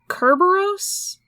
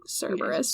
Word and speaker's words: Cerberus: Or, I want to say, like, in Greek it's actually, like, Kerberos? Because it's got a K instead. I believe Greek. so. But I think, like, the modern English pronunciation is, like, Cerberus.